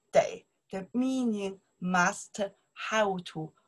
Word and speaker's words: 得: Day, before verb, pronounced day.